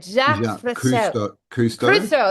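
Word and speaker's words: Jacques Cousteau: Jack Kustoau. That's it. Jack Fris. We grew up with Jack Cruso.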